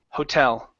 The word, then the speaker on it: hotel: And your last one here is hotel. With this word, the stress is on the end. Hotel.